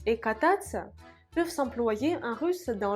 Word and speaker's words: кататься: Où est l'accent tonique? Кататься, кататься. L'accent tonique est ici.